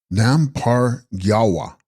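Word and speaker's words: Nampar Gyalwa: Text: Ranam Par Gyalva, pronounced Nam Par Gyalwa, Sanskrit Vijaya, victorious one, the doorkeeper of the East.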